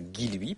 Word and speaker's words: Guilluy: est à alors d'abord je suis désolé d'avoir mal prononcé votre nom pendant 2 ans donc maintenant je dirais guiloui promis euh deuxièmement je